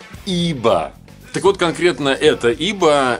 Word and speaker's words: YBA: Да, и как правильно произносить, кстати говоря, название, многие пытались говорить YBA. Какой YBA? Это не английская фирма, ребята, это французская. И основателя ее зовут Ив Бернар Андре. Так что ИБА на самом деле. ИБА.